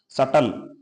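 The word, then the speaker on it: subtle: कह सकते हो कि बी कभी भी अगर टी से पहले आता है तो साइलेंट रहता है जैसे यहां पर आप देखो सटल सटल माने होता है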